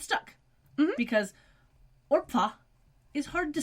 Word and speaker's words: Orpah: about her birthday is not actually Oprah it's Orpha which is Hebrew for neck it's a Bible name ma'am but people kept mispronouncing it as Oprah and it's stuck because Orpah is hard to say yeah I mean I